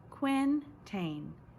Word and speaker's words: quintain: tilting at the quintain you say it like this Quinn taine he must knock over